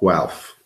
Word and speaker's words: Guelph: was purchased in Guelph, which is Guelph. Yes, Guelph. I know weird. It's spelled Guelph. Is this like the org is in the Sea Org?